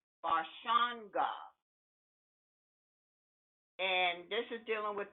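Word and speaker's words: Barashango: name is i-s-h-a-k-a-m-u-s-a and his last name is pronounced barshawn god and this is dealing with the fourth dynasty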